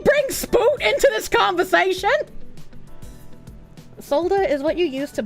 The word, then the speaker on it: solder: It's spelled solder, but the L is silent.